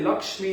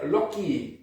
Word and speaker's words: Lakshmi: notice i said now real authentic bengalis do not pronounce the sha they say big go